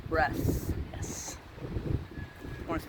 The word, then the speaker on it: Bresse: boys are good for eating breasts they're called breasts yes you want to spell that sarah b-r-e-s-s-e so we only have five